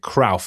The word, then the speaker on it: Cruyff: Is it Cruyff? That's the right way to say it. Yeah, right. It's got the same sounding as Dirk Kuyt. So you say Kuyt, you say Cruyff.